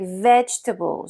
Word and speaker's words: vegetables: Même chose avec vegetables. Beaucoup de Français prononcent chaque syllabe. Vegetables. Mais les natifs disent vegetables. Encore une fois, le mot est réduit et c'est une énorme différence entre le français et l'anglais.